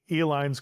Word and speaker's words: Uihlein: Pabst went into a processed cheese product, and the Uihleins created the Uihlein, spelled phonetically E-L-I-N-E, candy company.